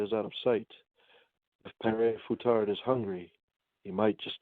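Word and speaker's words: Père Fouettard: I know I believe it's pronounced Pere Foutard, which is said it translates to Father Whipper.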